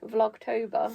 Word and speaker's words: Vlogtober: Vlogtober. Vlog Vlog. Vlogtober. No, vlog like a vlog, right? October like October.